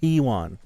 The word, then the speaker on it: Huiwon: Okay, Huiwon. Thank you. It's spelled Huiwon.